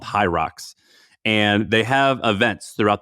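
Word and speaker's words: Hyrox: segment but Google hi I think you pronounce it high rocks so h y RX don't go to the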